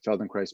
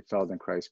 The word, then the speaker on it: Feldenkrais: price yeah Poland cries rhymes with rice rather than with a T it's Easter yeah happens